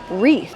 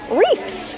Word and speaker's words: wreath: Not to be confused with how people mispronounce wreath, W-R-E-A-T-H. Some people call wreaths, reefs. We have someone in our family who calls Christmas wreaths, reefs with an F.